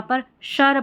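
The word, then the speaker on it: pressure: आर ई तो यहां पर शर पढ़ा है double S यू आर ई में तो मेजर में एस यू आर ई को जर पढ़ा है प्रेशर में शर पढ़ा है एस यू आर ई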